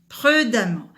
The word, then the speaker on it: prudemment: Exemple, prudent, prudemment. Et vous remarquez là que le E, ça se prononce A.